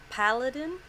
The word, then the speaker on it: paladin: But her class looks like a paladin.